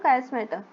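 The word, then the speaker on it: chiasmata: कास्मेटा सी एच ये देखो यहां पे ये लिखा सी एच आई एस एम ए टी A spelling याद रखना।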